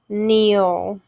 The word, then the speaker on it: kneel: m sound silent b kneel k n silent k nash g n silent